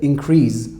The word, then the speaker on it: increase: And I remember at the time, I used to mispronounce the word increase. I said increase when I use it as a verb, but I remember you corrected me.